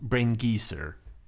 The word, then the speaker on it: Brain Geyser: mano you do know it's pronounced brain geezer it's an old geezer vagina missed himself yeah